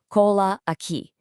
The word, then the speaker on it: cola aqui: First up in our good vibes section is cola aqui, pronounced cola aqui.